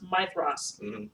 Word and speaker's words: Maedhros: Even though there's no TH in it, it's pronounced Mithras.